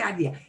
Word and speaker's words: idea: I know, we want to say idea. Idea. Yeah, we pronounce all those letters.